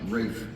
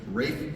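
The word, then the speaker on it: Ralph: it was written by a gentleman name is pronounced Rafe Rafe Von Williams he was an English composer wrote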